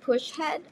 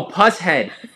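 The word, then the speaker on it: Pushead: It's not pronounced push head. I have a push head tattoo. I gotta know. How do you pronounce? So is it? Oh, puss head.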